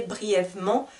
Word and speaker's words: brièvement: donc j e mais je ne vais rarement le prononcer brièvement d'accord souvent je vais manger le e gentil gentil gentil va